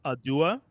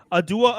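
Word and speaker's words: Awdo: So adua, but it's spelled A W D O, but it's pronounced Adua. Yeah. Okay. Adua.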